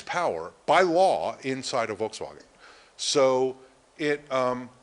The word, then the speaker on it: Volkswagen: you've all heard about my family makes fun of me because I try to pronounce it in the German Volkswagen they hate that um but uh Volkswagen has an immensely powerful